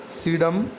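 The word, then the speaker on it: Psidium: ये P silent रहेगा यहाँ बोलने में, सीडम ग्वाजावा।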